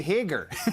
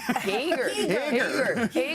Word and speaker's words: Hager: Hey, I say Hager. Hager. So- Take off your hoser. Yeah, exactly. Okay. You've got a pretty pronounced accent.